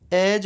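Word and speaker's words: edge: एज बोला जाता है। अगर डी के बाद जी होता है तो उसमें डी जो है वो साइलेंट रहता है। डी और जी एक साथ रहे तो उन दोनों को जय बोला जाता है।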